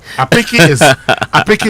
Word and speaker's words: apeke: a borrowed one used that way, it will be pronounced apeke. No stress, no unstressed.